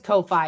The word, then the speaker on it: Ko-Fi: Yes, it is Ko-Fi. It's spelled like Kofi with a dash.